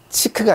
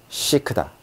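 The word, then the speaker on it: chic: 우리가 시크하다 하고 말할 때 쓰는 시크. 자, 요것도 치크가 아니라 시크다.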